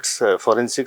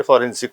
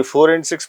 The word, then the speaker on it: forensic: इतना फेमस हां एक्चुअली लोग प्रोनाउंस भी नहीं कर पाते थे फॉरेंसिक को लेके कोई फोर एंड सिक्स बोलता था कोई फोर सनिक बोलता था जी एनीहाउ आई स्टार्टेड